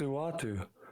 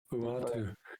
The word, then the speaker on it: Uatu: It's Uatu. Okay, that's what I got it. Bing bang. Yeah, Uatu.